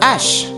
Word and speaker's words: hache: Sa hache. Hache, feminine noun beginning with an aspirated H.